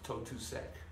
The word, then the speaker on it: Totusek: name is pronounced my last name is talked to said some people call me